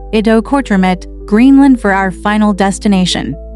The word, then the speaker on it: Ittoqqortoormiit: Ittoqqortoormiit, Greenland, population, around 350 people. Now, I know what you're thinking. How do you even pronounce that? It's roughly at -talk-ko or -2 or -meet, and it means the big house people in Greenlandic.